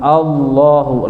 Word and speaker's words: Allah: khidun sedikit tajwidnya Allahu lafaz jalalah lafaz Allah sebelumnya berbaris fathah itu dibacanya tafim Allah Allah tidak tidak ada huruf w-nya tapi Allah Allahu La ilaha Mad Jaiz